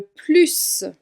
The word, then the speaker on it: plus: Quand le mot plus se trouve en fin de phrase, ou en tout cas sans aucun autre mot qui le suit, alors le S se prononce. Par exemple, on peut dire « c'est le livre que j'aime le plus ». Là, tu entends clairement que je prononce bien le S.